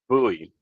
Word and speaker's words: Bowie: It's Bowie. pronounced Bowie.